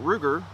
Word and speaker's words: Ruger: from the fact that Ruger rhymes with Luger but that is just